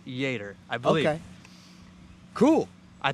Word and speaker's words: Jader: a d r but if I'm doing my Spanish correctly it's pronounced Jer I believe okay cool I think I called him jader probably a few times